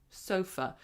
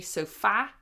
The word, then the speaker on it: sofa: Sofa. So even though it's an a, we don't say sofa. We go sofa.